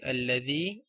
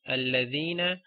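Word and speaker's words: الذي: Okay, so these words, okay, the words belonging to this family, like alladhi, alladhina, allati, allati, allai, or alladhani. Okay, words like that you always read with a fatha on hamzatul wasl.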